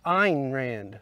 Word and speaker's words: Ayn Rand: A.Y.N. Rand. I actually looked it up earlier because, you know, the joke. But I can't remember how it's Russian. It's Ayn Rand or something to that nature.